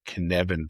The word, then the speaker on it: Cynefin: It's Cynefin. Sounds So, Welsh. and that's a Welsh word, and I think it means something like home. And I'm probably still not pronouncing it correctly, but the Cynefin framework,